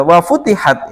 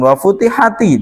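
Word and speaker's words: وفتحت: yang perlu saya ingatkan Bacanya jangan wafutihati tidak karena di sini harakat kasrhnya ini adalah harakat bantuan karena di depannya ini e huruf yang sukun sehingga di untuk Ini aslinya itu sukun Ya aslinya dia sukun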